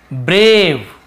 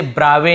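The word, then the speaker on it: brave: तो देखिए इसे ब्रावे नहीं पढ़ रहे, इसे ब्रेव, ए को ए पढ़े ना, ब्रे ए, ब्रेव, ब्रेव यानी तो साहसी।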